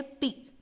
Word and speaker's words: pea: जैसे यहाँ लिखा हुआ है PEA, तो इसका प्रोनाउंस होता है पी, मटर के दाने को कहते हैं EAT।